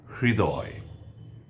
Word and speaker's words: হৃদয়: সঙ্গে ঋকার যুক্ত থাকে তাহলে তার উচ্চারণ ইংরেজি এইচ আর আই একসঙ্গে করলে যে উচ্চারণ হয় সেটি উচ্চারিত হবে অর্থাৎ হৃ এবং হ এবং র একসঙ্গে উচ্চারিত হবে খানিকটা হ আসবে আর কিছুটা র আসবে একসঙ্গে উচ্চারিত হবে হৃ আমি কিছু শব্দ বলছি